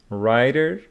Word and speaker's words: writer: so we know that W before R is not pronounced like WR writer wrist B after m is